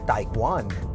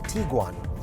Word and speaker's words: Tiguan: So when you see the spelling, you might want to pronounce it as Tiguan, but Volkswagen would like you to call it the Tiguan.